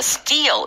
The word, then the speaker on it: steal: S-T-E-A-L 해서 right. steal 하고 뜨 발음이 되고 약간 길게 eel 이렇게 됩니다.